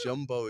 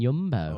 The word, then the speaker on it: Yumbo: Jumbo is like this big. Is it pronounced Jumbo? I've been saying Yumbo. Oh, maybe it is. Maybe Yeah, Jumbo. Maybe It's with a Y.